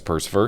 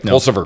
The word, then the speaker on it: Pulsipher: you aware if mayor mayor pers I apologize persever did I say it right pulsifer pulsifer got it nailed it I got it